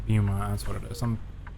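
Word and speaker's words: Beaumont: Port of Bowmont. Keep left. Or is it Bumont? I've been probably mispronouncing it. It's probably Bumont. Turn left. It's Bumont.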